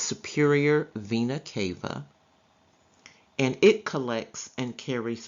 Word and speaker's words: vena cava: superior vena cava it's blue right here it's pronounced superior vena cava and it collects and carries blood from the